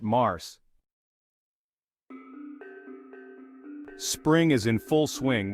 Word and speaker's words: Mars: is March or Mars in French we pronounce it Mars spring is in full